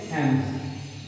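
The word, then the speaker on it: alms: waiting for एन एम्स, इसको बोलते हैं एम्स, इसका प्रोनाउंसिएशन ऐसे होगा क्या, एम्स जो आएगा, एम्स ए एनक का ए आदम हो और ज, एम्स, एम्स का मतलब होता है आप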